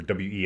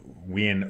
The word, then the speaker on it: Wien: yeah well because you Vienna is spelled like w ien I think or we i n so uh it's we is how it's I believe it's said in the in the in the proper German in that area going